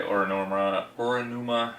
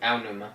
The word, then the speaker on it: Aonuma: They had a quick appearance by Oranuma, or how do you say it? How do you say it? Aonuma. Yeah, him.